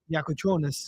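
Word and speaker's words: Jakučionis: David, pronunciation one more time, last name? Yakuchonis. Okay, Yacojones.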